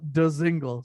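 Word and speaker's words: Dzingel: I love the fact that his name, you literally pronounce every letter in his name. Isn't it nice? Yeah, like there's no silent. It's not like Django where he's like the D is silent, hillbilly. Like it's straight up DeZingle.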